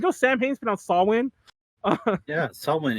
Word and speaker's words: Samhain: the way you know sam haynes put out sawwin salmon it's a it's uh what you call it damn it it's a wiccan word yeah it's pronounced sawwin so if you ever see that word it's saul win not samhain samhain like i just kept saying